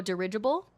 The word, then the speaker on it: dirigible: Ridge, like in ridge. Oh, dirigible? Is that how you say it? Yup, dirigible?